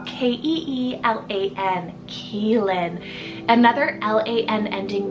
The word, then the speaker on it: Keelan: times it's quite gender neutral is the name Keelan k-e-e-l-a-n Keelan another l-a-n ending name that I love